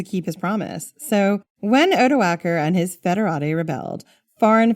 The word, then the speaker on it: Odoacer: named Odoacer, Jen. That's how we're saying it.